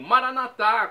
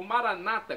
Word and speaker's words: Maranata: do aramaico Eu Clamo maranat como dizemos nós católicos ou Maranata como dizem nossos irmãos separados os evangélicos ou protestantes não importa a pronúncia o significado é o